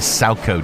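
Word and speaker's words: Salchow: That's not even our pronouncify lady. It's a SACO jump.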